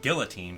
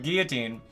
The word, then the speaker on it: guillotine: You can use Guillotine, and Guillotine, don't pronounce it Guillotine, come on now. Get cultured. Anyway, Guillotine is a one-hit KO move with 30% accuracy.